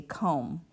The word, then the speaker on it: comb: So if we look at the word over here, comb, we don't say comb, we say comb.